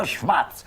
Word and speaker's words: Schmatz: I'm Professor Schmatz. Rhymes with pots.